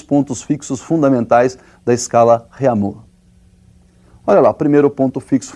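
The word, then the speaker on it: Réaumur: é a escala reamur que nós vamos pronunciar reamur né que a portugues de novo né E essa escala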